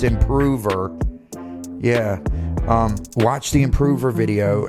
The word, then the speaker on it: Improver: The one y'all tell me how to pronounce it correctly. It's Improver.